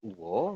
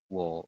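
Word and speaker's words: ㅝ: begini uama dengan o Harusnya kan dibaca o gitu ya tapi nanti teman-teman bacanya itu bukan uo melainkan dibacanya langsung langsung gimana langsung menjadi wo seperti ini Jadi dibacanya langsung w bukan uo tapi langsung wo seperti itu ya untuk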